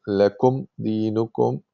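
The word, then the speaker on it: لَكُمْ دِينُكُمْ: dinukum waliyadin, dinukum waliyadin, so you have to make sure that you pronounce the meme properly by closing the lips, and then the next letter you pronounce it separately. Lakum din, you cannot say lakum dinukum. If you are not careful, these two might merge together.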